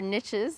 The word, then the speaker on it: niches: So there's something else you touched on, just talking about all the different niches or niches, as some of you Americans say, and opportunities.